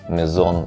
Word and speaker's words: Maison: у меня неправильное произношение mizon означает на французском дом и именно так надо произносить Поэтому если я опять